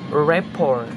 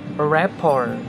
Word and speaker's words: rapport: are also some other words that have the silent letter t in them such as rapport rapport or belly belly another example word with highly